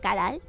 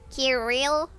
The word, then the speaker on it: Caral: It's pronounced Caral. It's written like this. Kirill.